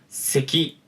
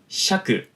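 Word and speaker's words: 石: 음독만 3개입니다. 바로 세키, 샤크, 고쿠라고 하는 3가지 음독의 발음 방식이 있어요. 그리고 훈독으로는 여러분들이 이미 알고 계실지는 모르겠지만은 이시라고 하는 훈독의 읽는 방식이 존재하는 것이죠.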